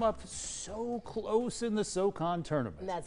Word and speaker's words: SoCon: Right now, the Furman Paladins come up so close in the SoCon tournament.